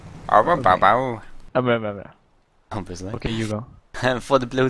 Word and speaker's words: Ouroboros: I think it's just pronounced Ouroboros. Ouroboros.